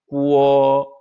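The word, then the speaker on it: 国: 아무튼 이 나라 국자를 중국에서는 구어라고 읽습니다.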